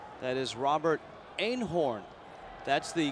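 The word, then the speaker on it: Eenhoorn: That is Robert Einhorn. That's the correct pronunciation back in his homeland. But when he got to the Yankees, instead of Einhorn, it was Einhorn.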